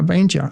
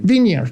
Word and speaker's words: vineyard: A vine jar. A vine jar. Vine jar. Is that how you pronounce vinear? Vineard. Vineyard.